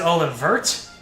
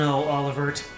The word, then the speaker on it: Olivert: Is it Olivert? How do you pronounce this? DM, can I roll intimidation instead of diplomacy? Oh boy! It's just Oliver with a T.